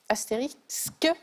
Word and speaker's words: astérisque: Astérisque. Oui, vous l'avez bien prononcé. Le problème, c'est que tout à l'heure, on était sur Astérix Voilà. et Obélisque et Cléopâtre. Et astérisque, exactement.